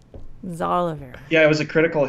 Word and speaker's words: Xalavier: Now we can't say it right because we're so paranoid about saying it Xalavier wrong. Nelson Jr. That was actually perfect. Nice. I was like, Xalavier.